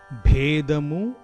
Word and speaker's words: Bheda: There is a difference in pronunciation between Bhedamu and Bedhamu. The meaning also differs. Bheda, Bedha. Bheda is difference. Bedha is breaking.